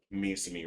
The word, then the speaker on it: Misumi: With the with the couple other exceptions, but Misumi rhymes with CG.